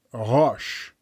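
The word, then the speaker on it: ראש: Just compare the 3 letters rosh from right to left, resh, aleph, shin, pronounced rosh.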